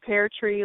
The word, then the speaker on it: Peartree: Pear tree. Like a tree that grows pears.